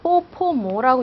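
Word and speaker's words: bo po mo: 이것도 이름은 BPM이 아니라 요걸 합해서 뽀포모라고 읽으시는 거예요. 아셨죠?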